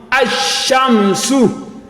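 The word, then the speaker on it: الشمس: anything on the lam, meaning that the lam is silent, and whatever comes after it, we have a shadda. So this shinun, we have a shadda before its fata'ah. So you will now assume a fata'ah on this alif that has scone, like we say, because you cannot pronounce an alphabet that starts with scone. So this one will now be ashamsu.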